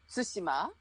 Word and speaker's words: Tsushima: longer japan that's why i want everybody to pronounce tsushima not tsushima tsushima i mean it doesn't help